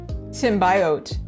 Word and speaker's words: symbiote: saw this word and they said symbiote and I was like, "What? That's not how you say that." First of all, I thought of it wrong. But then the second pronunciation of it, symbiote, I was like, "That makes more sense to me." And then I realized America and British we have different pronunciations of this word.